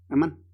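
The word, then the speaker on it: אָמַן: Y el verbo hebreo es amán, así se escribe, amán.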